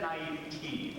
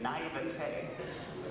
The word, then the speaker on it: naivete: I had said naivete for most of my days, until someone said, pronounce it naivete.